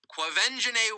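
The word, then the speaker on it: Quvenzhané: it's going on some of you right now clove engine a Wallace yes avenging a that's how you say her name clove engine a Wallace was all of nine years old when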